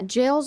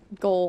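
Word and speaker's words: gaol: oh that's what you're saying it's so yeah jails are it's pronounced jail you were saying it like soccer go yeah so was I Gus I I said it like goal I was like why are they called JS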